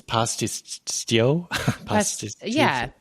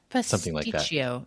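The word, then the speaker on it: Pastitsio: It's pastio. Pasticio.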